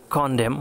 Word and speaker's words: condemn: ভাওয়াল না থাকলে এবং MN পরপর থাকলে N অনুচ্চারিত হয়, মানে N উচ্চারিত হয় না। যেমন SOLEMN, সলেম মানে গুরু গম্ভীর। CONDEMN, কন্ডেম মানে দোষারোপ করা।